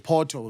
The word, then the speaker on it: Porto: Porto. We don't pronounce the R, but it's okay.